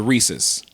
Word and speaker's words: Reese's: So if it's the peanut butter cup, it's a Reese's.